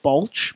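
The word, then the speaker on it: Baulch: long 17 year-old Billy I'm gonna pronounce it bulge ba ul CH 17-year old Billy Bulge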